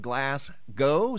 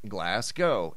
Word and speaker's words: Glasgow: you guys the first photo is out of glass go Scotland I was informed that it's not pronounced glass G it's pronounced glass go and here we go photo sent him by